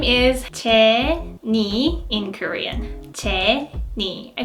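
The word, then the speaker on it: Jennie: is the next Jenny her stage name is Ted knee in Korean Ted knee I think there was no difference between English and Korean pronunciation her stage name is Jenny everyone knows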